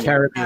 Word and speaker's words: Caribbean: So what did I say wrong? Caribbean? You No, said No, Caribbean. Caribbean. No, we Get say it right. No, it's Caribbean.